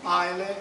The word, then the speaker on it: Islay: ebridi che si chiede si pronuncia mai ma si scrive islam e dove ci sono